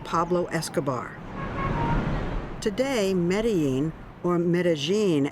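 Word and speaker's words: Medellín: Today, Medí, or Medigene, as it's pronounced here, is peaceful.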